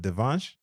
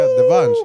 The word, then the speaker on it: Devansh: And um you know so I know I I'm probably saying gonna say your name wrong but Devanch. Oh that's perfect man. Really? Yeah that's perfect. Yeah. Devanch.